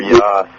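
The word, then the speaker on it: Jos: It's Brother Yoss. Yeah. J-O-S.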